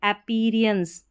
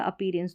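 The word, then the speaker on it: appearance: पढ़ सकते हैं जैसे अपीरियंस ऐसे भी प्रोनाउंस कर सकते हैं अपीरियंस दोनों तरीके से अपीरियंस या अपीरेंस दोनों तरीके से प्रोनाउंस कर सकते हैं कोई इशू नहीं है अपीरियंस का मतलब दिखावट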